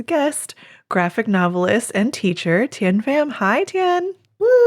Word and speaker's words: Thien Pham: You told me how to say it and I said it wrong. You still said it right. All right. You said it right. Tinfam is perfect.